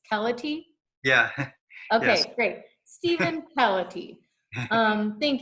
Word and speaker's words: Keleti: Stephen and I will start by apologizing for mispronouncing your last name it's pellet II yeah okay Stephen polity thank you so much